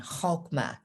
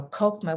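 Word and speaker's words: Chokhmah: now just a comment kokma has the pronunciation with the guttural sound hokma but it's hard for english-speaking people to do that so kokoma with the k sound is just fine then bina is across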